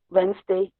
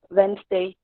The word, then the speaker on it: Wednesday: usually pronounce it at wednesday wednesday to only two syllables and next is saturday